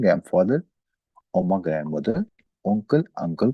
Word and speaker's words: P: कैसे हम प्रोनाउंस करेंगे? ओपा, ओमा, उंकल, ओप्स्ट, ओट। ओपा हम कहते हैं ग्रैंड फादर, ओमा ग्रैंड मदर, उंकल अंकल को, ओप्स्ट फ्रूट को, ओट प्लेस को।